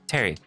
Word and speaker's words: Pteri: Yeah, whenever I first saw your name I was like, oh, Terry. Like Pterodactyl. Got it.